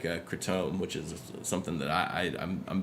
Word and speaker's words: kratom: Yeah, so Kratom, a lot people probably give me a hard time for saying it that way. That's how everybody says it in the Southwest. It's also said Kratom is another pronunciation.